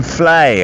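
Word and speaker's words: Fleadh: podcast Galway Film Festival Galway film Flay I believe his pronunciation is coming up in July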